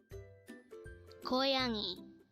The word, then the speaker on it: 고양이: 고양이, 고양이.